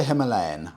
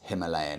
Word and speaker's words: Himalayan: I think for Himalayan, I'm okay to pronounce it Himalayan. It was 50-50-ish, but a few Indian riders messaged me and said, Freddie, it's okay. We pronounce it Himalayan, but Himalayan for you is okay.